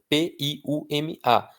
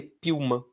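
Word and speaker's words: Piúma: P I U M A sem acento você lê Pilma. Pilma. Que que é uma Puma? Não existe Pilma. Existe Piuma que é uma uma praia do Espírito Santo também, tá?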